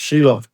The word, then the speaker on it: Shiloh: Joseph form the trinity shil pronounced shiloff is the one to whom it rightfully belongs Shiloh shiloff is a spiritual title